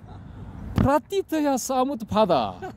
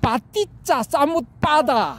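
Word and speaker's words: paṭicca samuppāda: 프라티트야 사무트 파다. 연기 이렇게 발음하면 안 돼. 이건 가짜야. 빠띠짜 사무트 파다 이렇게 해야 이게 진짜야.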